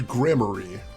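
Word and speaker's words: Gramarye: So, he actually does pronounce it right there. So, it is Grammar.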